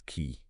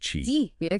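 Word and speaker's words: qi: balance flow of vital energy they call this key key yeah it's pronounced Chi and this energy it courses through the body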